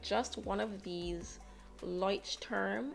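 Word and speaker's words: Leuchtturm: just one of these lights term is how i think it's pronounced 1917 journals is like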